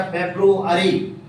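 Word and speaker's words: February: आगे चलते लिखा फेब्रुअरी, फरवरी नहीं, उच्चारण देखना है, उच्चारण क्या होता है, FABRUARY लिखा है सर फेब्रुअरी, फरवरी।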